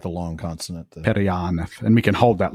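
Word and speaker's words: Periannath: And then Perianath, again, because it goes on the second last because of the double N. The double N, right? The long consonant. Perianath.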